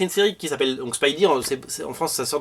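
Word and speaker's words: Spidey: série qui s'appelle donc Spidy c'est en France ça sort dans Spider-Man Universe numéro 4 Spidy ça s'écrit comme ça he c'est comme speed à l'époque vous vous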